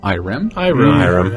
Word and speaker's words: Irem: It's a game by a company that no one pronounces in a universal way. Irem.